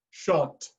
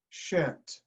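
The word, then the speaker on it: shan't: give me a two pronunciation one is shunt pronunciation two is shent so show me in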